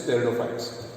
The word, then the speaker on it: pteridophytes: Here P is silent. So it is pteridophytes.